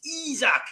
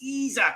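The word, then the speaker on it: Isak: on all week going it's izak it's izak and not isaac so izak has arrived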